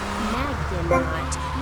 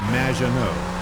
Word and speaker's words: Maginot: Magdanaut. Welcome to the show. Thanks, Amy. However, you have mispronounced my name. It's Madge, which rhymes with badge, as in duh, and no as in more than you. Maginot.